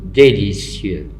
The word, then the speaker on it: délicieux: Et le mot délicieux, il se termine par X. On ne prononce pas le X, mais on doit l'écrire.